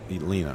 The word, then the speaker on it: Line: be really it's a Lina is that how that's pronounced Lina that's correct yes Lina short current number one